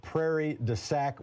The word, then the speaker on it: Prairie du Sac: opening hypothesis has been a different mark from Prairie du sac Wisconsin I hope I'm pronouncing that correctly go ahead mark you are